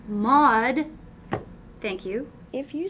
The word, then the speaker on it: Mad: what's your last name mud mod no I'm not getting anything out of that either how do you spell that mud m-a-d m a d explain it that spells mad uh it's mod thank you if you